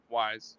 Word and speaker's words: Weis: And it's pronounced Weiss. Wise, yeah.